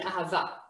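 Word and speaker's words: אהבה: have a ha love how many syllables do we have in ahava everyone yes three three syllables we have the first one ah the second one again we can hear how here this hey makes the sound of ha we hear it whereas at the end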